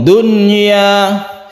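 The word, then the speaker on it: دنيا: Dunya, sukun nunnya itu harus jelas dan tidak bertasydid.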